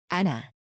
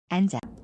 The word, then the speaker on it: 앉아: But when there's an iung, which doesn't have a value of actual sound as an initial consonant at the next syllable, the second consonant of the double final consonants goes like this.